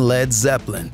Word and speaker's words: Led Zeppelin: to call the band Led Zeppelin, changing the spelling from L-E-A-D to L-E-D because he worried people would mispronounce the first word.